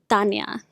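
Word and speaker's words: Tania: My name is Tanya. It's spelled really weird with an H in the Hispanic alphabet. The H is silent, so it's just pronounced Tanya.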